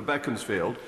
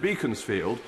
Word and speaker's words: Beaconsfield: and learned friend the member for Bekins field or as Disraeli pronounced it Beaconsfield when they decide that